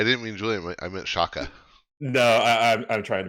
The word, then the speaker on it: Siaka: names and uh yeah that's how i was taught to pronounce it and you can also pronounce that name as siaka it i guess it just depends on you know what language you're speaking or uh where you're from but if you if